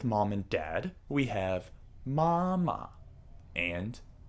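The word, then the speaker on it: 妈妈: characters like ma and when saying the full name the tone on the second character is dropped mama and the same goes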